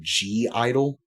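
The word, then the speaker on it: (G)I-DLE: Uh, the other one that I will give you is a group called the name, it's just pronounced Idol, but if you're looking for it, look for G Idol.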